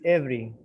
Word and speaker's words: every: accent every here is every you don't pronounce the e every every every morning